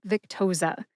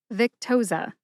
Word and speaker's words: Victoza: They are Vic, like Victor, tow, like a tow truck, and za, like pizza. Put all 3 syllables together and you get Victoza. Emphasize Vic.